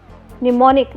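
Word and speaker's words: mnemonic: इसकी वर्तनी आपको थोड़ी अजीब लग सकती है क्योंकि यह ' एम' से शुरू होती है। लेकिन यहां 'एम' साइलेंट है।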